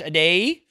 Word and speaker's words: Adeyeye: Adeyeye.